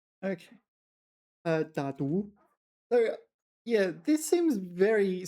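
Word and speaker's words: 打赌: 打赌. Wow, alright. 打赌. 打赌. 我跟你打赌. Sorry, I've been mispronouncing this a long time.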